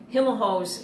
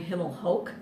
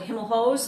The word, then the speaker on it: Himelhoch's: and by the way Hilma hose is how the store was always pronounced even though our family pronounces our name Himmel Hoch interestingly enough everyone called it Himel hose like and we even